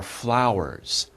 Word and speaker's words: flower: Be careful, this is a little himdero, a little difficult to pronounce. F and L, right? F and L. Very difficult combination. F, F, F, and L, L. Put them together.